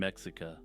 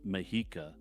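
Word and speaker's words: Mexica: Scala tepa Chala and mexa as I'm editing this I realize that the last one is properly pronounced mahika but yeah I'm not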